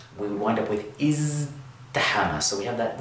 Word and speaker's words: ازدحم: would wind up with izdahama. So we have that z, we're using our voice box, and if you say it fast, you'll find that the ta here winds up sounding like a dal anyway.